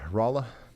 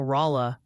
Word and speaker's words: Rolla: She says the founders tried to name Rolla Raleigh, but they didn't know how to spell it and ended up with Rolla. So that's why it's pronounced that way.